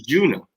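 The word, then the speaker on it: Juneau: i i whatever i don't know how to pronounce it it's juno it's a juno it's juno you're thinking way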